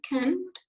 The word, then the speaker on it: can't: can do the work this is another way to pronounce the the word can't and in british or in your book you have the example that when this can't you say can't okay long not sure not like i can it is canned okay i can do